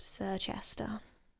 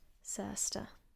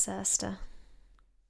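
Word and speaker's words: Circhester: when we have um words that have this like chester bit in them we actually don't pronounce it how you'd think that you would so this place you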